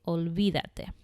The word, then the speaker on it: olvídate: So if I'm commanding informal you to forget something, I'm going to say olvídate. There is an accent on the I to keep the natural sound.